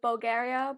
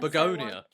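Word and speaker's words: Bugonia: That's what I did with Bulgaria before we went. No, that's not how you say it. How do you say it? Bulgaria? Whatever. Oh, ever so one. Begonia.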